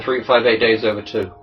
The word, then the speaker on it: 358/2 Days: Dream Drop Distance and uh 358/2 days uh no 3 58 days over two yeah that's how it pronounced I don't care I